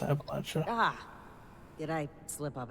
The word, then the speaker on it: Appalachia: It's pronounced Appalachia.